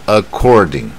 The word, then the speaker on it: according: 它正确的发音是 according，它重点就是这个卷